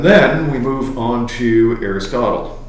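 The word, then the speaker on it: Aristoteles: And then we move on to Aristotle, or as it's actually pronounced, Aristoteus and the Nicomachean Ethics.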